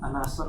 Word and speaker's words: An-Nasr: Kayaknya ada PR ya, catatan situ An-Nasr ya. An-Nasr, baik, ya. Syukran. An-Nasr.